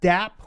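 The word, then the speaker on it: dApp: into two different chains next we have dap which is lowercase d uppercase a pp and that is shorthand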